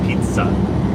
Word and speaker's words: pizza: pronunciation but it's it's pizza with a t Pizza we also have